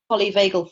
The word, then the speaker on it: polyvagal: Stephen Porges doing embodiment through the lens of polyvagal theory. Am I pronouncing that right?